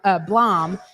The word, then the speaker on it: Blom: You should be able to see Tim, and it's Tim Blom is how you pronounce his last name.